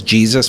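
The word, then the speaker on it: Jesús: oh yeah mine was his name is Jesus but it's Jesus this is the right way to say it I'm like this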